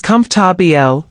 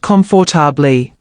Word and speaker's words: comfortable: Comfortable is comarbl, not comfor.